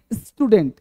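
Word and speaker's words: student: इसे क्या बोलेंगे भाई? स्टूडेंट नहीं स्टूडेंट। स्टूडेंट स्टूडेंट बोलो मेरे साथ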